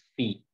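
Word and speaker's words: phi: what is this symbol, this symbol is pronounced as फी, ये जो symbol है ना ये ग्रीक अल्फाबेट है स्टूडेंट्स, और ये ग्रीक अल्फाबेट को हम प्रोनाउंस कर सकते हैं एज फी, पी एच आई, तो ये ए कॉस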